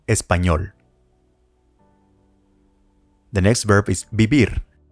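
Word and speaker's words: vivir: the next verb is bibir remember this V letter is pronounced as B ibir how do you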